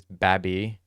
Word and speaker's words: Babi: From what I looked up, you pronounce this Babi.